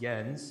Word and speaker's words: Jens: My name is actually pronounced Jens. The J Jens? has a Y sound.